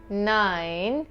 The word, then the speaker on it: nein: Yes, ja, yes, nein, no, nein, like the 9 letter, nein, no, vielleicht, vielleicht, maybe, vielleicht, okay, so it's ja, nein, vielleicht.